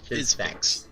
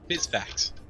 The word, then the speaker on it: Fizzfax: Okay, I've been told it is pronounced Fizzfix. Fizzfax. Fizzfax, okay. Fizzfax.